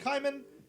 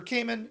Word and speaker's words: Kaiman: The plot basically revolves around this guy named Kaiman, or Cayman. It's probably supposed to be Cayman, but it's spelled K-A-I, which I think is Kaiman.